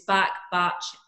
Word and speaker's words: Bach: Bach created, it's Bach, different pronunciations, but B-A-C-H.